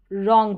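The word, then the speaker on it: wrong: Number nine पर देखेंगे डब्ल्यू आर यहां पर डब्ल्यू साइलेंट होता है। डब्ल्यू आर के कॉम्बिनेशन पे डब्ल्यू साइलेंट रहता है। हम आर से पढ़ेंगे। जैसे कि ये राइट हो गया और यहां पर रॉन्ग हो गया। राइट रॉन्ग नाइंथ रूल हो गया।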